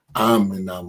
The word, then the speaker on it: Aminah: and to tell her it's spelled Aminah, but I don't want her pronouncing it that way. Tell her I want her to pronounce it Aminah.